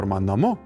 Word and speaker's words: namu: In another form of the same word namu, the second syllable -mu is pronounced more distinctly.